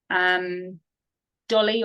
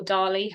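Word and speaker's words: DALL-E: Dolly or Dali, however you want to pronounce it, to create images.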